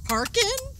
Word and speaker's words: hearken: here Ken here Ken is that harken harken yeah but it's spelled here Ken yeah here Ken he's